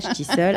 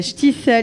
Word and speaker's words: Shtisel: Je l'ai mal prononcé, je suis pas ashkénaze. C'est normal, Shtisel. À chaque fois, je me trompe, c'est pas grave. Donc, Shtisel.